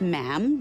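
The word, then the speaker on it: ma'am: and after that it's just mam rhymes with jam and it's always a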